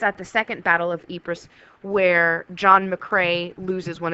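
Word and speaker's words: Ypres: is the Battle of epris uh we said how the British soldiers not really understanding how to pronounce this often called it wipers but you learn that it is called epris uh this is a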